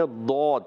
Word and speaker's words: ضاد: ہے, ضاد کو دال نہیں پڑھنا, ڈال نہیں پڑھنا, زواد نہیں پڑھنا, اور غاد غین بھی نہیں پڑھنا. غاد بھی غین بھی پڑھتے ہیں, تو یہ ساری چیزیں نہیں کرنی. آپ نے ضاد کے تلفظ صحیح ادا کرنا ہے.